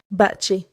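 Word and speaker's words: 밭이: And the one exception I'll remember, t and digut turn into t and j before I. Bat i is bat chi, not bat i.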